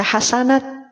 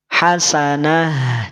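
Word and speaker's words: حسنة: waakaf jadi sukun aridi maka dibacanya tidak dibaca hasanat awas awas awas awas tidak dibaca hasanat tapi dia jadi dibaca ha ya kita tulis di sini dibaca ha hah Hasanah tidak hasanat nah ngelag enggak suaranya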